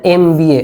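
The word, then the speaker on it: MBA: আচ্ছা এন এমবিএ again এখানে ই এম এইভাবে প্রনান্সিয়েশন স্টার্ট হচ্ছে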